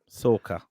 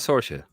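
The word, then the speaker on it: Sorcha: Sorka. Sorry, not Sorsha. I don't know. I think that's Sorsha. Sorka.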